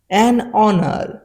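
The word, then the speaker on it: honour: এন হয় এান আওয়ার এক ঘন্টা এখানে কিন্তু উচ্চারণটা হবে আওয়ার অনেস্ট ম্যান একজন সৎ মানুষ অনার একটি সম্মান এয়ার একজন উত্তরাধিকারী রুল নাম্বার থ্রি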